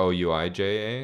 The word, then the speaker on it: Ouija: It has four vowels in it. Ouija. But it only pronounces the sound of the one vowel that's not in it, which is the E. Because it's Wee.